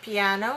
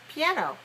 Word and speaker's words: piano: word first of all how many syllables are there in the word piano yeah i know okay piano you're right three and where's the stress piano yeah i know look